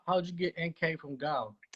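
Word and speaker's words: Nkauj: you get nk from gao gao is spelled the pong way so it's uh n-k-a-u-j so that's how they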